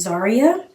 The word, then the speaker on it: Zyryia: lot of people probably don't know how to pronounce my name. My name is Zaria.